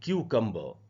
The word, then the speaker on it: cucumber: British English में last में जो आर होता है उसका उच्चारण नहीं होता, अमेरिकन इंग्लिश में होता है।